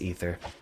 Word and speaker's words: Aether: rivals of aether project actually i think it's pronounced ether i need to actually